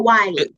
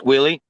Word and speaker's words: Willie: is it I'm sorry is it Willie or Wy it's Willie yeah okay Mr Willie I